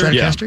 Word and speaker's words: Stratocaster: Stratocaster, yep, yep.